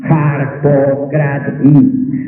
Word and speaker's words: Harpócrates: Los griegos se adormecían concentrados totalmente en Harpócrates y pronunciaban su nombre así: Harpócrates.